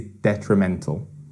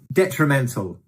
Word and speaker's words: detrimental: that word is detrimental detrimental likely to cause harm okay yeah so detrimental is an adjective and it's got an interesting pronunciation as well four syllables detrimental and it's that third that third syllable detrimental is the pronunciation